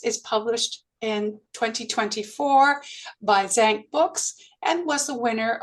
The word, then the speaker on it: Zan: Her latest book, Zan, a collection of short stories, is published in 2024 by Zank Books and was the winner of the 2022 Zank short collection prize.